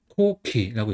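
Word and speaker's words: 航基: 그다음에 이등 같은 경우는 이제 배양하고 터기 값서 코키라고 있습니다. 그니까 턱이 같은 경우는 아까 전에 키라고 있는 거 배웠죠? 네. 코키 배항의 코는 이제 음독을 있는 거예요.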